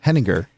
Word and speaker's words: Henninger: pronounce your last name heninger heninger heninger heninger like the beer you've never heard of out of Frankfurt Germany okay let me yeah